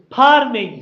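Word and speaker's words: pharming: n g I think of course it is farming like like fishing farming is what I was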